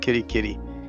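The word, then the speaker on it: Kitekite: here we are at kidi kitei Falls or kitty kitty sorry they're pronounced kitty kitty and uh in this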